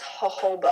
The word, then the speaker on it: jojoba: It's pronounced jojoba oil.